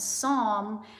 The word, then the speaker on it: psalm: and that one and psalm has the silent P so you can look